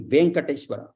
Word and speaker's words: Venkateshwara: Like Venkateshwara is not there. Venkateshwara. The Sanskrit people will say only Venkateshwara, because there is no Venkateshwara pronunciation in Sanskrit. All Dirgha only, Venkateshwara.